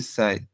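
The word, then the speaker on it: 一歳: যেমন 1 থেকে আমরা বলি ইচি, কিন্তু বয়স যদি আমরা বলি তাহলে কি হবে ইসাই।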